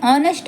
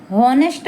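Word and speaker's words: honest: लेकिन शुरुआती एच का उच्चारण नहीं होता।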